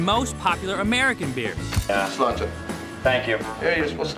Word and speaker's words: Sláinte: Slóinte. What? Slóinte is the Irish for cheers.